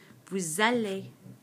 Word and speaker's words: vous allez: Again, just like the new form, this S, which is normally silent, normally it's pronounced vous, suddenly is going to become pronounced because of this vowel, this A in aller.